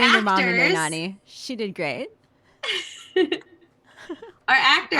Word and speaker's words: Nani: I don't know how to pronounce anyone's names. Adrian Pellerin, Adrian Frimpong, and Katie Sicking, Justin Miller, Nanny Mendez, Kathleen Cameron, and Tommy Washbush. Nani.